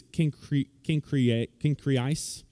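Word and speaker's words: Cenchreae: I don't know why it's pronounced Cenchrea. In the Greek, it's Cenchreais. But everybody I looked at online pronounced it Cenchrea.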